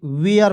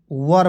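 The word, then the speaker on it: were: डब्लू ई आर ई बहुत लोग से वेयर पढ़ लेता है वेयर पढ़ना गलत है वर पढ़ते हैं क्या पढ़ते हैं दोस्तों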